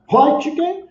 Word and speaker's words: Röntgen: Röntgen, segundo consta lá, é assim que se pronuncia, tá?